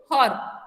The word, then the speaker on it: her: I gave it टू हर, okay, सो अभी क्या करना है तुम लोगों को? जब भी प्रोनाउंस करोगे, रॉ साउंड साइलेंट रहेगा, ई साउंड भी साइलेंट रहेगा, okay, I gave it टू हर, ठीक है, ओके, Yes, ma'am.